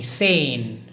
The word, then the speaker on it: seine: is pulling Seine now this particular word is pronounced as Seine say after me sane pull insane and what is the meaning of